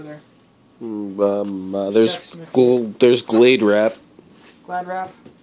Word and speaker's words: Glad: Glad Wrap. It's pronounced Glad, not Glade. There's no E on the end.